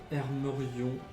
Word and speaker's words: Hermerion: Le propriétaire s'appelle Hermerion Gaffatios. Alors, Hermerion, c'est H-E-R-M-E-R-I-O-N. Et Gaffatios, PH pour le Gaffatios. Comme ça se prononce.